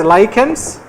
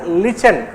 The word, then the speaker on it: lichen: For example, you must have heard about certain organisms called as lychans also called as lichen. Doesn't matter how you pronounce lichen or lychen doesn't matter.